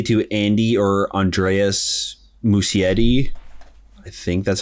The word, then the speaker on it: Muschietti: Oh, by the way, it's pronounced Muschietti. I just looked it up.